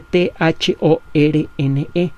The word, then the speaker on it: Thorne: Se escribe T-H-O-R-N-E, Thorne.